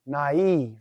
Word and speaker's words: naive: to the the word naive in english naive AI is normally a diphthong in english but here it's not functioning as a diphthong naive is how we would